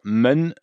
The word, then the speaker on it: 们: Bon, déjà au niveau de la prononciation, men, pas de grande surprise, le E se prononce comme un E, hein, on dit pas man, on dit en.